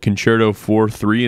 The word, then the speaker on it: Concerto 4-3: It's called Concerto 4-3. Is that how you say it, Jennifer? It is, actually, and you're a good segue for that.